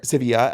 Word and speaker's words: Sevilla: Spain for their trip or Sevilla as Alexi's like we cannot we cannot call it Seville I'm sure proper